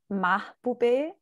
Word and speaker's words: Mahboobeh: Okay, my name is Mahboobeh. You pronounced mostly okay, I'm fine.